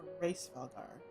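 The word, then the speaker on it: Hraesvelgr: So, I don't think you really pronounce the H. It's more Race Valgar. Maybe it's her. Maybe she doesn't say it so quick. You don't The H is there, but you don't really hear much of it.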